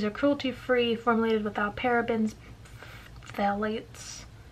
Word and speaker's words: phthalates: Like all Smashbox products, these are cruelty-free, formulated without parabens, phthalates. Is that how you pronounce it? Phthalates? And fragrances.